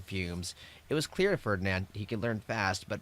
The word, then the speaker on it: Ferdinand: Not to be outdone by his overachieving brother, Ferdinand. I don't know why I keep saying I pronounce that Fernanded.